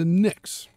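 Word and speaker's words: Pnyx: In Athens, this was on the Nyx. Yes, spelled with a P, kind of like pneumonia.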